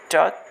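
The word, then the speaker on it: talk: टॉक एल को silent रखेंगे, यानी इसका प्रोनाउंसिएशन नहीं किया जाएगा।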